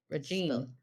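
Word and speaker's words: Radjin: I'm oh just kidding pronounced like pronounced rad like cool and Jin like the drink rad oh cute okay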